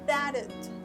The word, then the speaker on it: that'd: example, you can say that'd, right? It's the same because you have a final T here, so it's a little bit harder to pronounce, but you need to try to make the sound.